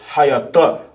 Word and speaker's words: hayatah: The pronunciation for was in the Hebrew is hayatah. Hayatah.